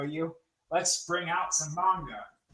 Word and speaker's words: manga: How do you spell that? I never remember. Magna. Mang manga. It's magna. Manga. It's it's it's if you want to get tedious about it, it's pronounced manga, but nobody's going to bother you if you